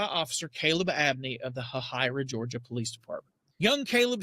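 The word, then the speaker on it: Hahira: Just north of Aldasta, there is a small town, and I think I'm pronouncing it right called Hahyra, Georgia, spelled H A H I R A. And in Hyra, Georgia, I noticed in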